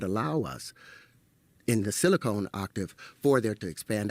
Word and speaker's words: silicon: to pronounce the element and it silicone no it's silicon uh silicone is a